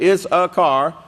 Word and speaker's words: Issachar: Issachar, if you could remember it like that, Issachar, that's the way it's pronounced.